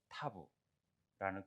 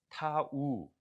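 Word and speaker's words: תו: 히브리 글자에서는 이 X자가 이렇게 돼가지고 타부라는 글자로 발전되게 되었다. 그래서 우리는 이름은 타부, 타우 해도 되고 타부, 음가는 티읕, 티읕이 많이 되어져요. 발음 자체가 이것도 점이 있고 없고가 따라서 타부와 따부 이렇게 되는 발음도 되는데, 참고적으로 알면 됩니다.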